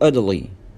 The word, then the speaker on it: Italy: Number 7, trip to Italy, trip to Italy, trip to Italy, trip to Italy. وهنا التاء نطقناها داء ساوند مش تاء ساوند لأن هي جت بين two vowels بين حرفين متحركين.